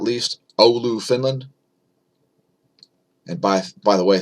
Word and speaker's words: Oulu: some data also and last but not least oulu finland and by the way thanks ola for teaching me how to pronounce the word Oulu i appreciate that and